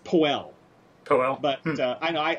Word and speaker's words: Powell: powell it's actually pronounced poe well but uh i know i i want to say powell because it it certainly looks like that to me but my understanding is he pronounced it poe okay um so now